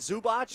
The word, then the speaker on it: Zubac: Zubats. Yeah. Those ugly pants. I know. How do you pronounce his name? I don't know. Isn't it Zubach? Yep. Hey, let me tell you, that Zubach.